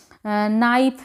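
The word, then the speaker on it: knife: तो इसमें यानी के साइलेंट हो गया।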